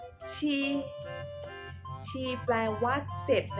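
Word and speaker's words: 七: ที่ พูด ตาม เรา ซื้อ นะ คะ ที่ She She แปล วัด เจ็ด ใน ภาษา จีน นะ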